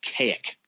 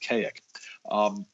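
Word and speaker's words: Kazik: men he met were beings from the planet k ik spelled kaz i k and they that sounds almost unpronounceable I know it's it's so weird because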